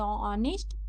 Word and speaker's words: honest: द ऑनेस्ट, ऑनेस्ट मतलब होता है, यहाँ पे देखिए एच साइलेंट है, इसको हम लोग क्या पढ़ेंगे, एच साइलेंट है, इसको हम लोग क्या पढ़ेंगे, ऑनेस्ट।